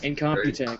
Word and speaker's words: Incompetech: Incompetech, yeah.